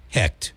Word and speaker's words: Hecht: Hecht, spelled Hecht, but pronounced Hecht. Like what the heck with the T.